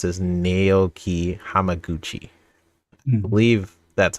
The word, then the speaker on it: Naoki Hamaguchi: I think how you pronounce it is Naoki Hamaguchi.